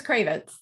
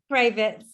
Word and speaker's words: Cravets: Have I pronounced that right, Mary? It's Cravets. Cravets, brilliant.